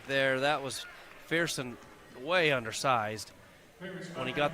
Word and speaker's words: Fearson: I've been saying Pearson, but it's Fearson.